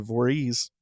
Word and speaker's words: Voris: John Hay described William Voris, and he pronounces it Voorhees, as a half-grown hobbledehoy from Bear Creek whom Joseph shot in the shoulder.